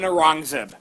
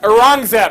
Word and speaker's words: Aurangzeb: But unfortunately, the good times won't last, because if you got an Akbar, you probably got an Aurangzeb. I didn't get that. Aurangzeb.